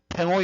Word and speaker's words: 팽호: 원어민 발음대로 읽으라 그러니까 이 팽호를 이게 이제 중국식으로 읽으면 벙호가 되고요. 우리식대로 읽으면 그냥 팽호입니다.